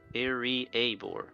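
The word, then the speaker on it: Iriaebor: Oh, that's how you pronounce it. Iriabor.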